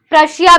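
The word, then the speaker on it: Prussia: प्रशिया भी है इसमें, कहीं भूल जाओ, प्रशिया जर्मनी का पुराना नाम, ठीक है, याद रखना।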